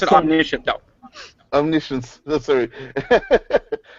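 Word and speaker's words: omniscient: in the sense of knowing everything yeah KN Omni science would be the equivalent of absolute truth uh I think yeah in um we pronounce it omnicient though omnis sorry it's spelled like that but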